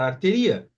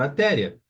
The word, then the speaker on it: artéria: iato Então olha só toda pessoa que ler essa palavra artéria sem acento vai pronunciar arteria mas com acento vai pronunciar artéria aqui já não vai